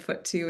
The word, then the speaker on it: FUT2: The FUT2 foot. Is that how you pronounce it, Dr. I say Dawson? if you do too. I think predecessors have said FUT2, and so I think both are open and fair.